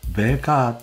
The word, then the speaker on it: VK: いきなり日本語です略称は vka と書いてベイカーと発音しますまあロシア語圏